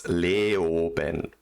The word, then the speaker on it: Leoben: Is that how you pronounce it? Yes. Oh, it's Leoben, but Leoben, same thing.